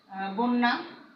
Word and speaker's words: বন্যা: অনুরূপভাবে বন্যা, ব্যঞ্জনকে বন্যা বা বন্য, হ্যাঁ, ব্যঞ্জনকে দ্বিত্ব করে।